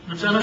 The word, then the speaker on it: lieutenant: friend and boss, Lieutenant, I use the American pronunciation, Lieutenant General Arthur Trudeau, was given the task of doing something with it.